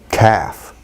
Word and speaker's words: calf: Is there an ul? Some people could say calf. Maybe you'll be understood, but calf, as a lot of people pronounce it, and I think most native speakers pronounce it, probably just ending in an F.